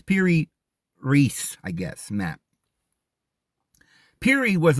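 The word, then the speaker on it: Piri Reis: they call it per I would say per resi because i' I've said that so long but I know that's not the right pronunciation it's Peri Reese I guess map Peri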